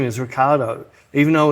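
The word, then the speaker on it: Ricciardo: when he's talking he says his name is Ricardo even though it's spelled like riardo yeah his pronunciation is Ricardo but then there's four or five commentators go rickardo even though everyone else says Ricardo and then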